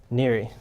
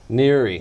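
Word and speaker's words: NHERI: research infrastructure which is what how do you pronounce that Neri Neri yeah there we go yeah it's all about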